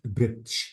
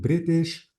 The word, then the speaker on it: British: words so this is a British not britsh but British or original and because we